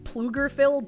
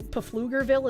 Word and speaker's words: Pflugerville: The P in Pflugerville is silent.